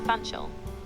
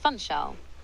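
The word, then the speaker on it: Funchal: beautiful Chameleia collection and the amazing views of Fanchel. What would you like to know more about? Ooh. Um, I'm quite interested in the way you said Fanchol.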